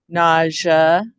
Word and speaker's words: nausea: So, but when we say nausea, it goes to the zh sound, right? Instead of the sh sound.